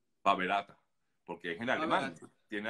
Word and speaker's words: PABerater: faberá tener en español en alemán la r al final se pronuncia como ear Entonces sería Jorge primero